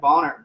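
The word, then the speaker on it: Buhner: And he found, this is what he said, like Bonner, is how you say his name, who did Healing Lyme Disease or Treating Lyme Disease.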